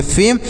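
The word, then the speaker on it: fame: रहेगा नेक्स्ट देखते हैं एफ ए एम ई तो एफ से पढ़ेंगे फ इ से एक ही मात्रा और एम ई से म पढ़ेंगे तो इसे पढ़ेंगे फेम ई साइलेंट रहेगा इसे नहीं पढ़ेंगे फेम पढ़ेंगे नेक्स्ट देखते हैं सी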